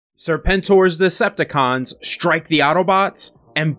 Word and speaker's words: Serpentor: So before we get into the video, I've been saying Serpentor instead of how it's actually pronounced in the G.I. Joe series, Serpentor.